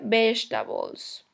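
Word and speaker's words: vegetables: se escribe vegetales destapo se pronuncia best a balls ok de esta voz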